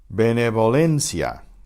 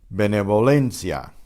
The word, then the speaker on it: benevolencia: The first letter, the B, is pronounced the way we normally do with the puff of air. But the V is between two vowels, so it's benevolencia. So it's benevolencia, to exaggerate it a bit.